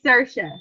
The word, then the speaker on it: Saoirse: Oh, I say Saoirse. Is that not right? Some people say Saoirse. Okay, so They say like Saoirse Ronan, but I say Saoirse. So you say it Saoirse?